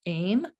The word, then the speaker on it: ehm: the vowel sound aim it's spelled ehm and it's pronounced aim and that is the